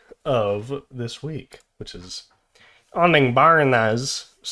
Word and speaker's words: Honningbarna: I've been listening to Soft Spot by Honningbarna. I think that's how it's said anyway. Honningbarna. Honningbarna.